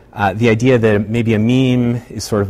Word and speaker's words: meme: So I hope my classicist friends will forgive me if I abbreviate mimeme to meme. It should be pronounced to rhyme with cream."